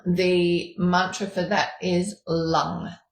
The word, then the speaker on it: lung: Um the mantra for that is lung. Lung. Okay. L um as in L u N G.